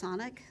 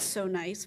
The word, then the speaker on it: SONIC: I think the acronym is supposed to be pronounced SONIC, Sounds of NYC. I don't think it's so nice, but I think it's supposed to be SONIC.